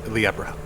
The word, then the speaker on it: Libra: So the intended pronunciation is Liebra. Libra? Liebra. Oh, so just Libra. pronounce it as in Spanish.